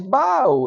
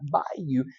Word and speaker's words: bayou: But they're saying it wrong. It's bio. It's not bayou.